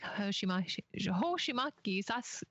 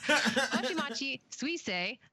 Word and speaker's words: Hoshimachi Suisei: In addition to Hololive fans supporting their favorite talents like Hoshimaki, oh my gosh, why can't I say it right? Hoshimachi Suisei, Narissa Ravencroft, and Pavolia Rain.